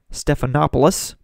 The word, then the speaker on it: Stephanopoulos: the ABC debate so that Clinton operative George Stephanopoulos there's the correct pronunciation can run cover for her well to